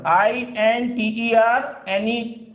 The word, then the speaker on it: internet: सो see here the spelling of this word, INTERNET, internet. So N, T are coming together, so we pronounce T here, internet.